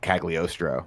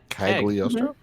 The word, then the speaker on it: Cagliostro: Cagliostro? Cagliostro. C-A-G. Oh, I'm sorry. I'm an H. I mean, it doesn't matter. Let's move on. There's an Italian letter that's a li, which is spelled differently.